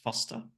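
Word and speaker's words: Forster: in Foster it's it's spelled forer but it's pronounced Foster I have been there it's a good spot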